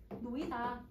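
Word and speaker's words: 놓이다: 이거 어떻게 발음해요? 노히다예요? 노이다. 이렇게 발음을 하죠.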